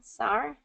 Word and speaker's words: sour: Sour? Sour and R. Oh, okay. So it's more 2-syllable for the American pronunciation. Sour.